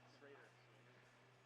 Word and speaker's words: Schrader: Is it Schroeder or Schrader? Schrader.